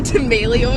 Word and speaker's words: D'Amelio: It kind of sounds like armadillo.